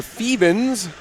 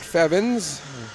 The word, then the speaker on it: Fiebing: letting me know that it should be marisa fiebing's not feb ins and to the entire